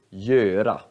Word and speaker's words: göra: Eller g-ö, blir då gö, göra.